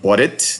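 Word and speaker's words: Baudot: Some people will pronounce the word Baudit. They may say Bordeaux. They might even like the place in France called Bordeaux. It's French after the inventor Émile Bordeaux. But it's the Bordeaux code, and it uses 5 bits per character.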